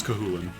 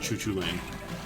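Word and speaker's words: Cú Chulainn: somewhat often, like Saoirse, and that's not actually pronounced like Sauriers. I already knew it. That one's Kahulin. Not Choo Choo Lane.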